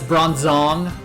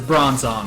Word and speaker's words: Bronzong: and that's with bronzong the pokedex 3d Pro says bronzong with emphasis on the second syllable and then the anime says bronzong with emphasis on the first syllable I like emphasis on